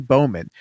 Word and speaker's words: Bowman: It's Bowman. Not Bauman, Bowman.